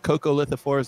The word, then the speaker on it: coccolithophores: of plankton known as coccolithophores which are the ones that give you gym chalk or the white cliffs of dover um or they might be pronounced coco lithophorus depending on where you are but um cocolithophores are